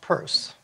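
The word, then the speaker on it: Peirce: Charles S Pur and it is pronounced purse made a communication on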